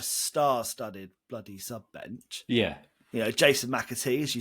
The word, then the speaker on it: McAtee: McAtee.